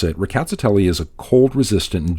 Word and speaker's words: Rkatsiteli: speakers saying the word it does sound like there's an R at the beginning though it's very lightly pronounced as well as slightly rolled so something like ricotta telly and that's the pronunciation